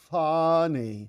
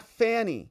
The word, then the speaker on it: Fani: her name properly okay it's called fny not Fanny okay just to be